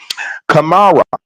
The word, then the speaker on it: Kamara: Kamara, I say it right. Yes. Yes, you did.